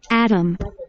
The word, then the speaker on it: atom: atom. atom. 자, 영어로 쓰는 사람들은 t 발음을 못 낸다고 리을처럼 들리게 소리를 내는데 우리는 t로 발음하는데 atom. atom. 오케이. 미국 스타일로 무엇을 부르면 atom. atom. atom 하면 돼요.